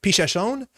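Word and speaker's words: Pichação: And then there's the card that apparently I was pronouncing really wrong for a long time. So thank you, Ginevra. Pichasson.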